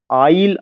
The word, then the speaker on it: Isle: Lake आइल of Innisfree. आइल का spelling ISLE, lake आइल of Innisfree.